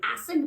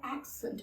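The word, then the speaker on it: accent: कहते की हम आपकी एसिड बहुत अच्छी है ऐसे नहीं होता है एक्सेंट होता है एक्शन एक्शन ठीक है तो आते हैं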